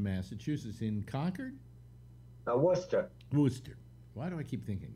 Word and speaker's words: Worcester: were raised in massachusetts in concord uh worcester wooster why do i keep thinking conquered wooster like